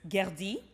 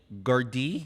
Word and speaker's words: Gerdy: Okay, I want to pronounce it. It's Gerdi. Gerdi.